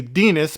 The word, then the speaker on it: Denis: told that it's da I say Denis because it's spelled just like penis but with a d that's actually kind of